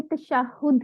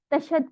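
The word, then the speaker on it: تشهد: सबसे पहले हमने क्या सीखना है, हमने तशहुद सीखना है और आपने इसकी प्रोनाउंसिएशन को ठीक करना है। तशहद कहने वाले दिन चले गए हैं, तो अब आपने क्या कहना है, तशहुद, ठीक है, नमाज में जो होता है।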